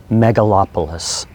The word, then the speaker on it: megalopolis: really like this word megalopolis would you please say it with me mega lop a lis i guess it's four syllables mega lop a list